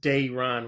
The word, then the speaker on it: Daron: When it's pronounced Daron with an invisible Y.